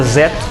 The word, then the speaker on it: Zo: Kamen Rider Zo, né, se pronuncia Zeto, mas ele é Zo, de 1993, e o Kamen Rider J de 1994.